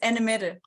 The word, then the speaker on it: Annemette: It's Danish, it's Annemette, but Oh, Annemetta.